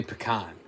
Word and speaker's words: pecan: How do you say pecan? Because if you don't say it the way I just said it, you're wrong. Yeah.